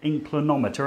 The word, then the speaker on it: inclinometer: There's your top tip with a inclinometer.